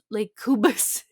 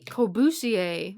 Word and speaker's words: Corbusier: Lake Cubas. Fudge. It's like cubism, right? No, Oh, Corbusier.